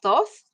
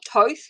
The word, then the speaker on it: Thoth: the egyptian deity of thoth or toth however you like to say it people spell it in